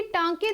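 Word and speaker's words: 短歌: मनना वो किव क्योंकि टांके द ज टके द जड़ पहलिया तीन लाइना सन प्रन सेशन दे ल माफी क्योंकि अपनी अपनी प्रोनाउंस है तुसी टांका भी बोल सकते हो टंका भी बोल सकते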